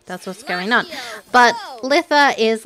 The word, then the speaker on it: Litha: couple pronunciation videos and they all said Lissa someone someone was like Lisa but I was like yeah I think Lissa sounds better so we're gonna roll